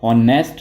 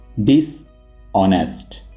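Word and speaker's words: dishonest: इसको आप हॉनेस्ट नहीं पढ़ेंगे, आपने H को साइलेंट रखना है और इसको आप ऐसे प्रोनाउंस करेंगे डिसऑनेस्ट।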